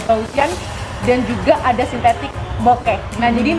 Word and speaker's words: bokeh: dan juga ada sintetik bokeh. Nah, jadi namanya bokeh ini dari bahasa Jepang bokeh, B-O-K-E gitu. Nah, kemudian kalau di bahasa Inggris dibilangnya bokeh juga pengucapannya.